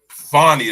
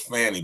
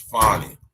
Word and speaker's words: Fani: outside of other things fonnie is how you pronounce her name I thought it was Fanny but it's fonnie right breaking news on